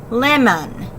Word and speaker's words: lemon: So the first syllable, lem, has an expected vowel sound. It has the short E sound. So this is a closed syllable, pretty standard closed syllable here. The second syllable, lim-un, lemon, this sounds like All right, we know